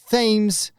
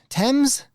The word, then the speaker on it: Thames: a river, which is spelled t h a m e s, but that's not pronounced Thames or even Tames, but Tems?